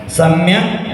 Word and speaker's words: सम्यक: सम्यक दर्शन ज्ञान चारित्राणि मोक्ष मार्ग। बोलो। देखो सम्यक नहीं बोलना, क नहीं बोलना चाहिए, ग बोलना है।